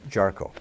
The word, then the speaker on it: Jarchow: Wisconsin journal today our guest is representative charcoal thanks for having I did pronounce that correct you got it okay you